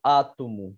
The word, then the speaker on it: átomo: vai estudar basicamente o átomo Olá tudo bem átomo átomo que é uma proparoxítona porque eu a proparoxítona O que é a sílaba tônica tá na penúltima e última penúltima antepenúltima sílaba Tudo bem então vamos